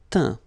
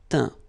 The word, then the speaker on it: teint: Teindre, teint. Okay, as usual, final T not pronounced. Atteint, éteint. Fin, peint, teint.